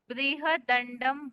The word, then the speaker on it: बृहदंडम: ये बृहदंडम भूतेकम ऐसे है। आप शायद ब्रह्मा ऐसे कुछ बोले थे, कुछ अलग उच्चारण था। वो बृहदंडम, ब्रह्मदंडम।